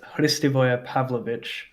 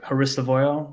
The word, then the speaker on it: Hristivoje Pavlovic: The actual pronunciation of my full name is Hristivoje Pavlovic, which is like it's Serbian. But growing up, kids at school tried to say it like Hristivoje, which then turned into Hristivoje, which then turned into, and then Pav because